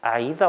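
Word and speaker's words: AIDA: A-I-D-A. 아이다 원리라고 읽어요.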